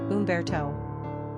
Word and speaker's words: Humberto: number of syllables three ranking popularity not applicable pronunciation Umberto simple meaning famous warrior characteristics of Umberto social